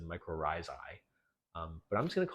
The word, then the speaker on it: mycorrhizae: So I read on how to pronounce this, and apparently it's micro rhizi. So I was wrong. I don't know if I've ever heard anyone said mycorrhizae, but I'm just going